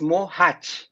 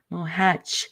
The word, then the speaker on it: Mohac: Well, actually, it's Mohac, like a Mohac. hedge. Yes, that's Yeah, right. Mohac.